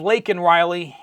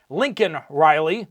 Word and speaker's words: Laken Riley: Instead of Laken Riley, he called her Lincoln Riley, which is terrible.